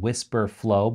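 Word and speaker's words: Wispr Flow: The tool that he recommended, let's just get right to the good stuff, is called WhisperFlow, but it's spelled W-I-S-P-R, I believe, flow.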